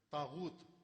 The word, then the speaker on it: طاغوت: ایک مجلس میں طاغوت 10 دن طاغوت پر مجلس پڑھی, طاغوت غین کے ساتھ.